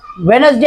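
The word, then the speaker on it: Wednesday: तीन टप्प्यात वाचता येईल याला वाचताना वेनसडे असेही म्हणतात वेनसडे डी सायलेंट आहे ओके पुढचा स्पेलिंग बघू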